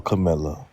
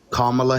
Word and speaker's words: Kamala: Trump nope voting for cam that's not you pronounced her name it's kamla let's go on next